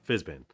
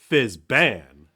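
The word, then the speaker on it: Fizban: Oh, Fizzbin. Yeah. Yeah. It's been... Wait, no, we both said it wrong. Fizzban.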